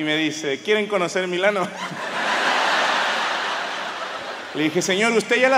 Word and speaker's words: Milano: ahí me explicaron que no se dice milán se dice milano yo no dije nada